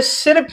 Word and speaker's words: सिर्फ: अब यहां पे सिर्फ में देखिएगा, तो यहां पे देखिएगा सी, ठीक है ना, सी, फिर यहां पे देखिएगा आधा र और यहां पर फ, तो ये है रेफ। तो रेफ में इस र का जो उच्चारण है वो आधा होता है। तो यहां पढ़ते हैं सिर्फ, और यहां पे देखिएगा